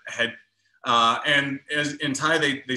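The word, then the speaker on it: เห็ด: So in Thailand, mushrooms are called het. You might see that spelled with a T or a D, but het.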